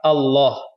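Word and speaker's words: الله: Nah, di sini adalah lamnya tafkhim, tebar. Allah. Dibaca Allah. Ya, lafzul jalalah. Kenapa? Karena sebelumnya itu berharokah fathah. Sebelum lafaz Allah ini sebelumnya berharokah fathah.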